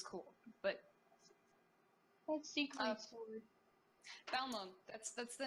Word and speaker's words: Balmung: Jared, how do you pronounce the name of the Final Fantasy server that we play on? Balmung, you fucking. Okay. Oh my god. Or I guess Balmung if you've got some like weird bad attack that like.